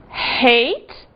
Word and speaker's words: hate: E cuidado aqui com o seguinte, hate, ódio ou odiar, que se não for pronunciado o H, pode dar uma confusão e virar o passado de eat, que é ate.